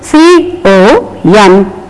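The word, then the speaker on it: comb: is Dum and then c o m b again the B is silent here it is com and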